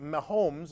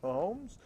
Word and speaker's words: Mahomes: The game's most valuable player, Patrick Mahomes, am I pronouncing that right? Yeah. Yeah. Mahomes, shouted that famous phrase